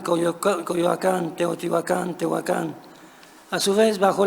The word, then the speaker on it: Teotihuacán: Hoy existe en México un debate en torno a la pronunciación aguda de los topónimos Teotihuacán, Tenochtitlán, Coyoacán, etc., las cuales deberían de pronunciarse, según algunos, con una acentuación llana.